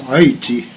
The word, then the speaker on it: Haiti: which is pronounced Haiti.